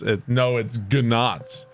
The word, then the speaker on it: gnat: Pronounce gnat. It's gnat. You fucking gamoron.